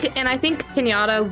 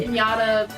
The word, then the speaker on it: Pianta: I think Pinata will succeed on different maps. Maybe when you pronounce the name right, he might do good. It's a nickname. Okay. That being said, Pianta. Pianta.